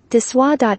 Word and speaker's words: De Soi: Inspired by the French ethos of indulgence with restraint, DeSoy is pronounced DeSoy.